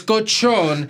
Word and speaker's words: cochon: She's like, oh, you mean the kosher? I'm like, no, that's a Spanish word. It's cochon. Yeah.